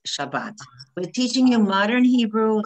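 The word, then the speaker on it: שבת: And that Ashkenazi, when they say Shabbos, or they used to pronounce the one that looks like a T as or. Or. But we don't. In modern Hebrew, it's ah. Okay? So if you look at the bottom, it says Shabbat.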